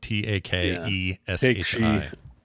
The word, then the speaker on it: Takeshi: It's like Take She apostrophe S. Everybody who's trying to spell it TAKESHI. Yeah. Yeah, but it's Takeshi.